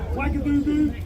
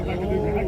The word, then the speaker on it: Ouagadougou: Ouagadougou. Ouagadougou. Capital Burkina Faso. Pronounce with a W but spelled with an O. Yeah, Ouagadougou.